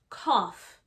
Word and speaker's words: cough: sneezing there's also coughing this is pronounced cough cough almost as if there were two f's the o-u-g-h sound here is like an f cough we also have watery